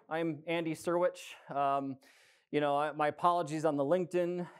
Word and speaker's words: Syrewicze: It's pronounced Syrewicze, which is way simpler than it looks.